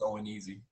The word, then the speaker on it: ONEZ: It's that's pronounced O and easy.